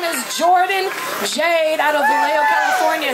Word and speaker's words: Jourdan Jade: Hey, my name is Jourdan Jade out of Vallejo, California. It's spelled J-O-U-R-D-A-N-J-A-D-E.